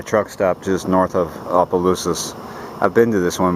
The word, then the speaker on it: Opelousas: I'm in Opelousas now. and I'm finally pronouncing it the right way.